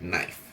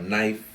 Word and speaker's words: knife: If it starts with a KN, you don't pronounce the K. It's just knife. All right. So, we have knife.